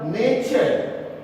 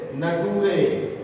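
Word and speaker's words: nature: तो टी के आगे अगर यू आर ई आता है तो टी का प्रोनाउंसिएशन चर होता है. जिसको नहीं जानकारी है वो ऐसे पढ़ते हैं, नटूरे, फटूरे, मटूरे, कल्टूरे.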